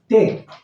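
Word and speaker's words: take: कि क तक का उच्चारण है ई का उच्चारण बिल्कुल नहीं है उसी तरह से टे टी ए के ई टेक टेक में भी आप देख रहे हैं कि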